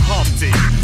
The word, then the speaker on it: Humpty: myself my name is Humpty pronounced with the empty yo ladies oh how